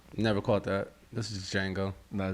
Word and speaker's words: Django: This is Django. No, it's the Django. Nah, yeah, you watched. We'll get With to the it. D is silent.